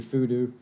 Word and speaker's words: Fudo: Then we move on to the FUDO hooks, or the food hooks. I've heard this pronounced so many different ways, but I believe it should be FUDO.